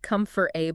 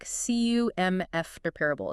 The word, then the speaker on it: comfortable: often get wrong comfortable people often say it like Comfort a but the real way the way native speakers say it is more like CU MF Parable it's almost like that four part disappears completely and this happens a